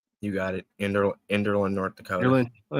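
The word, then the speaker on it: Enderlin: Nathan can kick my ass later for pronouncing it wrong. Enderland. Is that correct? You got it. Ender. Enderland, North Dakota.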